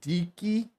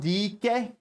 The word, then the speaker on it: Dike: is another word for lesbian his name is pronounced Dicky d e he he Daryl DK Daryl D key Daryl first of all Dyke is uh Dyke